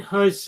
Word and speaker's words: Huijsen: yes B myth have signed Dean hon that's how you pronounce his name but just very quickly